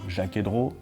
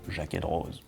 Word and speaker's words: Jaquet-Droz: Pierre Jaeger-Rose, and yes, well, you don't really pronounce the Z, it's kind of up to you. Jaeger-Rose, Jaeger-Rose.